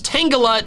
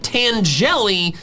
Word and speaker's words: Tangela: And then, even though I'm pretty sure he's doing it on purpose, whenever Purple Cliff calls Tangela Tangeli, one shot the Tangeli, it hurts my soul a bit.